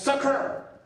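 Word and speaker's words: sucker: c'est suer attention hein qu'on prononce sur pour bien faire faut cracher mot du coin de la bouche ça désigne le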